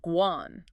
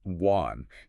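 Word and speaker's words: 关: Then the one in the middle is Guan, pronounced Guan. Guan.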